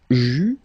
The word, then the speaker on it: j'eus: Final S not pronounced.